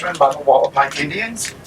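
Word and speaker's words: Hualapai: The reason is it's run by the Wallapai Indians, spelled with an H but pronounced W, Wallapai.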